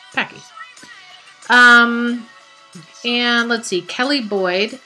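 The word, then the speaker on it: Paci: Okay, Chastity Monroe Bozovsky says, how do you pronounce Packy, P-A-C-I? Is it Pacey or Packy? And the answer is Packy.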